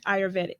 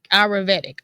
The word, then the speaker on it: Ayurvedic: And pronounce it again. Ayurvedic. Ayurvedic.